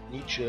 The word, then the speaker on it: Nietzsche: Am I getting the pronunciation right? Nietzsche, yeah.